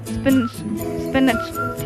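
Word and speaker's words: spinach: स्पिनच, ठीक है, इसको हम लोग स्पिनच प्रोनाउंस करते हैं।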